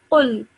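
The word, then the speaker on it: قُل: Again, this qaf is a thick sounding letter, so make sure you pronounce it in a thick with a thick sound. So qul. Akul.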